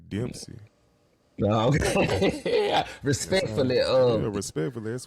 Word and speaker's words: Dempsey: Okay, I'm gonna spell it out, y'all. DEMP. Demp. SEY. Yeah, it's got to be Dempsey. Okay, here we go.